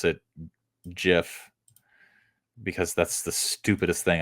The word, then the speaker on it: GIF: want to pronounce it gif because that's the stupidest thing I've ever heard who pronounces it gif do you give your child a gift for Christmas H GIF GIF people